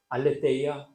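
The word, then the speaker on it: ἀλήθεια: 헬라오로 떠돌아 다니는 것을 알레데이야라고 한대요. 그리고 진리를 뜻하는 말도 의미 같아요. 알레데이야. 따라해 보실까요? 알레데이야. 알레아.이 이 발음이 좀 어 익숙하지 않지만 제가 친학대학 들어가서 헬라 처음 배운 단어가 이겁니다. 알레데이아 진리. 그런데 떠돌아다니는 것 알레데이아와 진리를 뜻하는이 알레데이아 발음은 같은데 하나 다른게 있대요. 진리를 말하는 알레데이아는 무음. 헬라어 알파벳 에탑 영어로 말하면 H. 예. 떠돌아다니는 것에는이 애타가 없고 진리라는 말에는이 에타가 있습니다.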